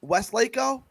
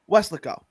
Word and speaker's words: Weslaco: in Mexico but and they kept calling it Westlake oh and it was it's it was it was how does it pronounced scare Weslaco thank you and they were saying it like